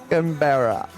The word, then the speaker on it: Canberra: be a world CitizenCon Canberra? Hawaii? Canberra? Canberra. Canberra? I was in the ballpark, jeez. Most likely. I'll most likely be going to Manchester. Okay. Nice. Yeah, Canberra. Canberra.